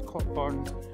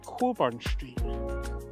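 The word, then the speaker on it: Cockburn Street: it I call it cburn street but it's pronounced by Americans it's cburn but it's actually Coburn Street just there and then you got another view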